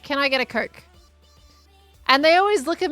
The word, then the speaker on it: Coke: And then Impulse and Skiz put it in my head that maybe my Australian way of pronouncing it came out a very different way. And they're like, you should pronounce the O more.